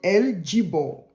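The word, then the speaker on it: El Gibbor: voilà j Bor parce que c'est pas en français donc ça se lit go I ça se lit j mais ailleurs eux il dit J voilà donc on dit l jibor sinon normalement ça s'écrit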